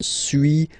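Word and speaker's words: suis: So first one sui as you've been noticing you don't pronounce the final s.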